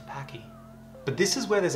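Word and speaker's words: Topaque: It's pronounced Topake.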